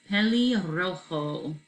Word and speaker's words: pelirrojo: So if you can roll your R's, try to do that. If not, no big deal. So this is pelirrojo.